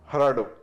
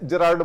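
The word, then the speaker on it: Gerardo: कह रही है कि हराडो में जी नहीं है। जरार्डो बुलाते हैं बट वो उसका प्रोनाउंसिएशन हराडो।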